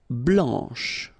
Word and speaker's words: blanc: Blanc, blanche, okay, so I wanted to put for each color the masculine form here and then the feminine form here, okay, so here, masculine, blanc, don't pronounce the final C, and then blanche.